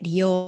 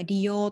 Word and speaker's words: 利用: てくださいですねこれ利用と読みますでそうですね